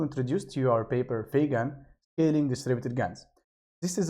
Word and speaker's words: FeGAN: We divide FeGAN into two syllables, Fe, which stands for Federated Learning, and GAN, which is an acronym for Generative Adversarial Networks.